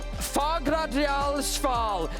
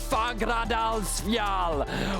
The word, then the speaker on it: Fagradalsfjall: Fagradalsfjall is a complex tuya with multiple prominences on the Reykjanes Peninsula, around 40 kilometers from Reykjavik, its highest summit in Langhoil.